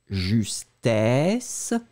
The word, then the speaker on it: justesse: La différence entre les deux, ça va être la différence entre le E, justesse... et I, justice, justesse, justice.